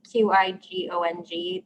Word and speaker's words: qigong: She's wondering if you wouldn't mind repeating the information about, and I'm not going to pronounce this correctly, QIGONG Zoom classes.